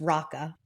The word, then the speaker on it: Roka: Roka Hula, which looks like it should be pronounced Roka Hula, but it's Raka, I learned, Okay.